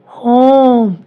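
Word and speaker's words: home: Example ह ओ म, होम, ई silent.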